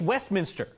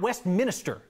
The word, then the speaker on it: Westminster: say it here okay it's Westminster not West Minister Westminster come on people there